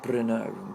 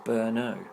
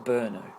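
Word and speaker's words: Brno: it's spelled b-r-n-o and I've heard a lot of people try and pronounce it Bruno Bruno but it's actually pronounced berno it's pronounced berno by locals so um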